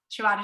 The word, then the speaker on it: Shabbat: Shabbat is just the Hebrew pronunciation for Sabbath, which just means to rest.